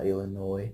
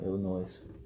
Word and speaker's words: Illinois: three states Wisconsin Illinois yeah Illinois not Illinois's I'm not from Illinois but I know how to pronounce it in Indiana I have